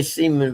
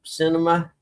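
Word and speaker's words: Sinema: I did say Seaman, but that's not how it's pronounced. C. Cinema.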